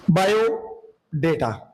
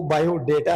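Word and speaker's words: biodata: बायो डेटा, यानी कि इसका जो करेक्ट प्रोनाउंसिएशन है वो बायो डेटा है, बायो डाटा नहीं है, बायो डेटा.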